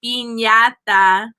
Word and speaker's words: piñata: piñata, jalapeno, taco, burrito, but we're saying it like Americans. It's actually piñata, right, burrito, so it is actually pronounced a little bit wrong, but that's if you were speaking Spanish, jalapeno.